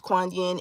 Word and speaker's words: Kuan Yin: spelled differently depending on the um background because Kuan Yin is in a lot of different um pantheons